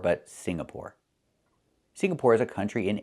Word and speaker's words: Singapore: I cannot pronounce the country Signapore. It's not Singapore. It's Singapore. The NG makes a sound M in your nose. Sing like when you sing a song together. Singapore, not Signapore, but Singapore.